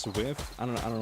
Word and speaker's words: SWF: You're what we call a SWF player. It's pronounced swift.